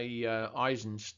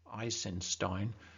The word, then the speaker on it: Eisenstein: battleship potemkin of course by aizen's Eisenstein ice in stein I think is the pronunciation is very famous and